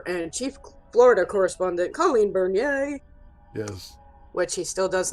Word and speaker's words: Bernier: i side note here i did not know until i got into high school that my last name was pronounced bernier right because my family